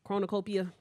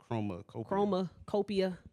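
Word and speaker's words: CHROMAKOPIA: Okay, so Tyler, the Creator, he put out his latest album, Chronocopia. Chromacopia. I only know how to say it because of Northwest.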